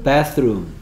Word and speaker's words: bathroom: 스 드 스 그래서 bathroom. bathroom. 바스룸. 네가 발음한 건 난 침실에 있다로 들립니다. 네가 아까 뭐라고 그랬냐면 I'm in the bedroom 이랬어. 침실에 있답니까? 베드룸이 아니고 바스룸이 바스룸.